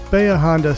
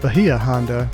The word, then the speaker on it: Bahia Honda: next epicly great destination baya honda state park is that how you say it we've always called it bahia honda but the locals all said it's called baya honda down here in the keys let me know in